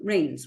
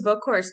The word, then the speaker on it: Boekhorst: on the show rains welcome to the show hi thanks for having me for sure I hope I pronounced your last name correctly it's actually a book course we connected through my